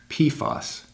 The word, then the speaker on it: PFAS: per- and polyfluoroalkyl substances, or PFAS, pronounced PFAS.